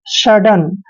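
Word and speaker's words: sudden: traditional clear next word S य double D ई एन देखिए एस का उच्चारण हमेशा हम स करते हैं एस यू को हमने यहां पर स पढ़ना है स नहीं पढ़ना है और डबल डी का उच्चारण हमेशा ड करेंगे और ई एन का उच्चारण न करेंगे सडन सडन मींस होता है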